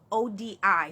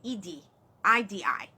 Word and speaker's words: Odi: So Oturapon OD, somebody asked me to spell it, Oturopon. ODI. Some people say IDI, right?